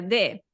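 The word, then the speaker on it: det: Por ejemplo o sea en sueco se escribe Death pero se pronuncia de y todo el rato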